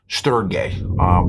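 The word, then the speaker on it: στοργή: The first one, it's pronounced storge.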